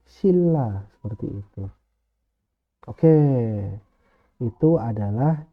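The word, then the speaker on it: 신라: membacanya ikut ke sini Jadi bukan Sil Ra tapi menjadi Silla seperti itu oke itu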